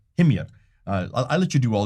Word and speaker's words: Himyar: Well, how do you pronounce it? Himyar. Himyar.